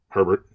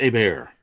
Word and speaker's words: Herbert: his name the quarterback Herbert is it Herbert or is it a bear it's Herbert a bear was a quarterback